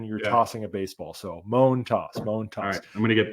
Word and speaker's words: Montas: everybody who's interested uh the pronunciation I went back and listened to his uh postgame press conference from opening day U moan toss so you know that though like a groan moan and then you're tossing